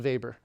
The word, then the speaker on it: Weber: But um Weber was a German and so that would be pronounced vber.